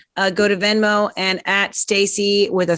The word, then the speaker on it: Stac3y: No E or 3. Stac3y. The 3 is silent. It's Stacy, PFQRE.